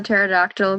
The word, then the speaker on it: pterodactyl: can't you hear the pterodactyl go to the bathroom because the p is silent that's a good one